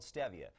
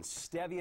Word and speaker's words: stevia: It's called stevia. Contrary, it's not pronounced stevia, it's stevia, but they've got some great things.